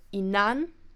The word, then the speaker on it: inan: original verb so today in case of the inan it shifts to the E so inan aminan same happens to